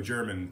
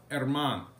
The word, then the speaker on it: Germán: And of course, when I say Domingo Germán, it's Domingo German to a lot of folks. But that's not how you say it. It's Domingo Germán.